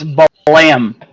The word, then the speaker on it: Balam: So swap your pronunciation up a little bit. It's Balam, which was meant to be like the sound effect.